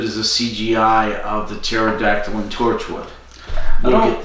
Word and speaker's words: pterodactyl: hear the dinosaur pterodactyl why do you never hear a pterodactyl pee because the poop is the pee is silent so the pterodactyl comes